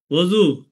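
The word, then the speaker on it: وضو: দ ওয়াও এটা হচ্ছে ওজু। এই এই যে মাঝখানে যে অক্ষরটা দদু মানে ওজু। আমরা কিন্তু বাংলায় অজু বলি। আমরা কিন্তু বাংলায় অজু বলি। তো সুতরাং এইখানে উর্দু ফারসি উচ্চারণ হচ্ছে ওজু।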